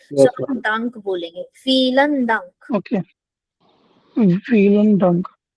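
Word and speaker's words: Vielen: या फीलन डंक मैम फीलन डंक फीलन फीलन फ वाला फीलन यस फ वाला फीलन नॉट नॉट व्हीलन फीलन डंक फीलन डंक या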